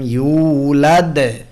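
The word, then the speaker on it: يولد: আমরা পড়ব লাম ইয়ালিদ ওয়া লাম ইউলাদ, আর শেষেরটা হবে বড় কলকলা।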